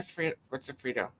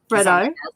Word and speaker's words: Freddo: Oh my God, milk top Freddos are the best I know, right? So good. What's a Frito? Freddo. Fritos, but ours are spelled differently.